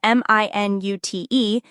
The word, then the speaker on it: minute: Spelled M-I-N-U-T-E and pronounced minute.